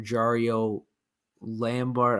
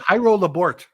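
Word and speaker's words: Jairo Labourt: You also got, I believe, another left-handed pitcher, Jario Lambert, I think it was how you pronounced it, for David Price.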